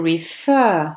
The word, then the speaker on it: refer: On dit to refer avec un accent qui tombe sur la deuxième syllabe, donc qui veut dire renvoyer, referring avec deux R.